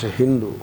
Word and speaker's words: Hindu: Greek an Arabian pronunciation Sindhu is pronounced as Hindu sighs pronounced as ha these things are there